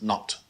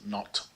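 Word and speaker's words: nat: Het is not. Het is not. Pronounced almost like the not in English.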